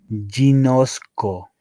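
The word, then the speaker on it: γινώσκω: Y este verbo se pronuncia ginosco.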